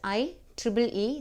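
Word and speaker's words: IEEE: it is I E so you can pronounce i Tri e style is a numbered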